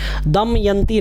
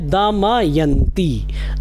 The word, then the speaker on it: दमयंती: हमें ध्यान रखना है दमयंती नहीं है दमयंती और बड़ी ई की मात्रा है दमयंती दमयंती कृता च